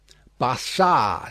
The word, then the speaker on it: Barsad: "Bassard," said Defarge, making it French by pronunciation. But he had been so careful to get it accurately that he then spelt it with perfect correctness. "Barsad," repeated Madame.